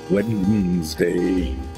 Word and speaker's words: Wednesday: it's we e DN so it's wed Wednesday it's not wend people always go end D